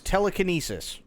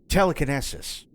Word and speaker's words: telekinesis: So for those of you who don't know how to pronounce that word is telekinesis. Cool. Captain Kirk pronounced it telekinesis. So not only does he have the emphasis on the wrong syllable, but he can't even pronounce it right.